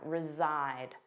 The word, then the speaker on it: reside: Notice that pronunciation. Resside. Zside. The voiced sound reside.